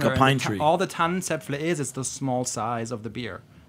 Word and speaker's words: Tannenzäpfle: Can you say the full name of Rothaus Pils in correct pronunciation for us? You mean the Tannenzäpfle?